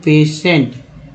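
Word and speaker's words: patient: तो दोस्तों जाहिर सी बात है सन और सीएल, तो सीएल जो है और सन जो है इसमें टी आई का उच्चारण जो हुआ श के रूप में हुआ।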